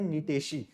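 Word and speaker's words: Gnetaceae: यहाँ पे जी साइलेंट है, इसको पढ़ते हैं नीटेशी, है ना।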